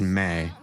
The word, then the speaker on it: me: carries all of the what is called May, M um pronounced May.